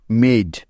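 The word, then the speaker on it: made: মনে রাখবে ই বর্ণটি কোন শব্দের শেষে থাকলে ওই ই এর কখনো কোন উচ্চারণ হবে না।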